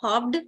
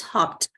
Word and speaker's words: hopped: d is also making it's not hobbed but it's hopped whenever you have a uh unvoiced okay and voice sound and then Ed it makes okay that b is silent